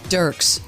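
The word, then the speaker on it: Dierks: Dirks. Dirks. Yeah. It's spelled D I E R K is how you spell it.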